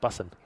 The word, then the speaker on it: bussin': I don't think you pronounce the G, so bussin'. Bussin'. Bussin'. Like I'm running for the bus. Yeah, like you're bussing it to school.